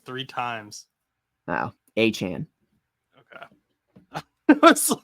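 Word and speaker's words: Achane: my goodness said a like three times oh aan okay was like I had to Google the pronunciation because I was like I have been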